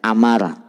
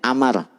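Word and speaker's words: عمرو: Kalau dalam bahasa Arab kalau lapan Umar ada wawunya dibacanya Amar. Kalau Umar nggak ada wawunya di ujungnya. Misalkan Ain Mim Ro, begitu kan? Kalau hanya Ain Mim Ro dibacanya Umar. Tapi kalau Ain Mim Ro kesananya ada wawu dibacanya Amar, begitu ya.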